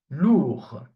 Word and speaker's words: lourd: The D is not pronounced. Okay? Lourd. We stop here.